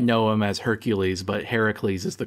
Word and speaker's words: Heracles: All right, Heracles, is that how you pronounce it? Yeah. You might know him as Hercules, but Heracles is the correct pronunciation.